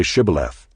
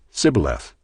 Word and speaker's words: Shibboleth: When he said no, they said to him, "Then say Shibboleth." And he said, "Sibboleth," for he could not pronounce it right.